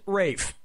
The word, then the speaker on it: Ralph: roll faster Ralph or Rafe has to Ralph the correct answer is yep ray Fiennes first name is spelled like Ralph but pronounced Rafe and his brother Joseph